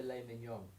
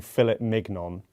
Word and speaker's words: filet mignon: What about a filet mignon? Yeah, but that's like a whole French thing. Yeah, Because you're not saying fillet mignon.